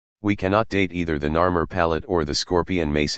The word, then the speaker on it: Narmer: Both sides show a ruler whose hieroglyphic name would have been pronounced Narmer.